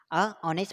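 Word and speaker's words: honest: ऑनेस्ट person, ठीक है, ऑनेस्ट person, ऑनेस्ट को जब हम लिखते हैं ऐसे लिखते हैं ऑनेस्ट, जो हमारा साउंड आएगा, प्रोनाउंसिएशन जो होगा हमारा कौन, वॉविल का होगा, और वॉविल का होगा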